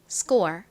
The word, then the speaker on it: score: 온 경우 쌍 기억처럼 좀 세게 된 소리로 발음한다고 설명드렸죠 score score 이렇게요 스의 의미가 뭔가요 점수 라는 의미를